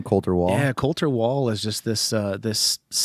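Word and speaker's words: Colter Wall: Coulter Wall?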